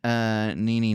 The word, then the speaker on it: Nene: Goldie Hawn and Nene Leakes.